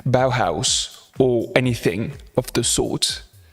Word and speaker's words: Bauhaus: something like similar to bear house bear house sorry very bad pronunciation bauhaus or anything of the